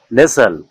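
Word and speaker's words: nestle: উচ্চারণ হবে সল এখানে এখানে টি এর কোনো উচ্চারণ হবে না যেমন বাসন ডিইউএসটিএন বাসন মানে ব্যস্ততা কর্মব্যস্ততা রাসেল আরইউএসটিএন রাসেল রাসেল মানে খসখস শব্দ নেসেল এনইএসটিএলই নেসেল নেসেল মানে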